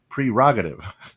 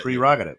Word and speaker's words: prerogative: parody or is it prerogative right yes no correct right because it's like it's not p-e-r it's p-r-e it's pre-rocketed right yes yes so it's